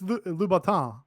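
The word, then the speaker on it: Louboutin: say gang girl and I and I it's Laton L which is how you pronounce it yeah I I yeah I think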